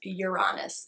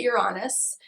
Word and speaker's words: Uranus: your ruling planet is your honest and yes I pronounce that you're honest you can say Uranus tomato tomahto your honest is your ruling